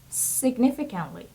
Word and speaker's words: significantly: The next word is significantly. Significantly. Okay, look at the pronunciation. Significantly. Significantly. So a stress is on the second syllable, and it would be significantly.